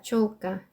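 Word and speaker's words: чёлка: 촐까, 촐까.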